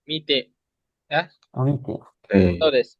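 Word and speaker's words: 未定: Ini mi bacanya. Mite.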